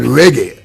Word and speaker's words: reggae: that was in Jamaica until this day called reggae.